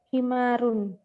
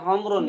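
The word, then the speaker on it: حمار: Himarun. Naam, himarin. Bukan humrun ya. Himarun. Kalau humrun itu Arab. Ya. Lihat, hati-hati. Dalam bahasa Arab. Beda huruf, beda arti nanti.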